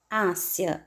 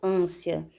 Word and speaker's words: ânsia: Eu não digo ânsia, eu digo ânsia.